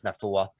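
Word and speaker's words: Naufahu: It's like, I think his first name's either Nathaniel. They call him Nathaniel, but I think it's Nafua.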